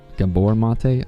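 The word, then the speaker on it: Gabor Maté: Um, I think his name is pronounced Gabbor, Gabbor Mate.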